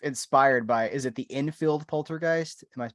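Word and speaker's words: Enfield: Well, there is based sort of inspired by, is it the Infield Poltergeist? Am I pronouncing that correctly?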